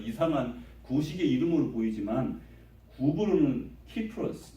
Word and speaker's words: 키프로스: 근데 구브로 그러니까 마치 고구마 뭐 비슷한 저에게는 아주 이상한 구식의 이름으로 보이지만 구브로는 키프로스, 뭐 사이프러스는 영어 발음인 것 같아요.